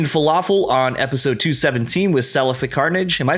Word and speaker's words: Cephalic: I have a comment from Human Falafel on episode 217 with Cephalic Carnage. Am I saying that correctly? Cephalic Carnage. Cephalic. Yeah, Cephalic.